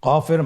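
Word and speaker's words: قاف: কফের মাখরাজ হলো জিহ্বার গোড়া তার বরাবর উপরে তালুর সঙ্গে লাগিয়ে উচ্চারিত হয়।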